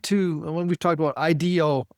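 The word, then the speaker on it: IDEO: You know, it's what goes back to when we've talked about IDO, IDO, it's pronounced the same way, which is an industrial design firm.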